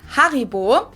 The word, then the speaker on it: Haribo: Maybe not everyone knew that Haribo is actually German. We pronounce it Haribo.